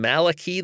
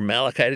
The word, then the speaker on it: Malachi: this interpretation especially going from Malaki this uh uh or Malachi depend how you pronounce it the last book of